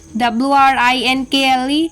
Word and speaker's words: wrinkle: The rule is often silent before R or at the beginning of a word.